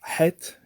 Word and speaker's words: het: are two separate sounds so het is like the sound that you would have when you breathe on glasses sort of to clean them it's like that head Hollan but hollow